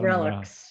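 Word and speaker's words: RELX: or its parent relax do they say relax how do they pronounce that relics relics okay relics uh or its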